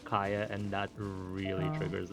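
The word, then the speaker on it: Kaeya: Because like in English they do say Kaya, not Kia, so I'm like, ugh, where does this come from?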